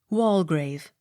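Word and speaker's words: Waldegrave: r a v e wall grave the d e not sounded w e m y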